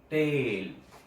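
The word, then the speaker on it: taille: See the pronunciation of it is tail.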